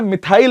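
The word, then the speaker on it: methyl: फिर आता है मिथाइल ऑरेंज, मेथिल ऑरेंज बोल देते हैं कुछ कुछ इलाकों में इसको, लेकिन वो अपनी अपनी यूके यूएस वाली प्रोनाउंसिएशन है, अपन मिथाइली बोलते हैं इसको इंडिया में, ठीक है ना।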